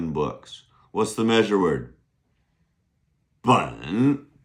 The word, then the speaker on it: 本: Bun. Good. B-E-N, third tone.